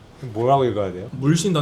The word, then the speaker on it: 물신다: 뭐라고 읽어야 돼요? 물신다.